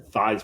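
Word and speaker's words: Theismann: ended his career thean thean supposed to be pronounced thesman he changed it to thyman RH with Heisman when he got into college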